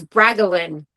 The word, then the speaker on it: Bragolin: Refuse to listen to me try and pronounce his name because it's Bragolin, not whatever I just said.